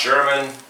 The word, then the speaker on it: Scheuerman: for having me yeah my name is sherman it's german and so no one knows how to spell it ever since i was a kid um